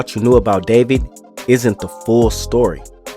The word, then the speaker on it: d4vd: Now, the vehicle she was found in was registered to a rising singer from the Houston area named D4 VD, pronounced David.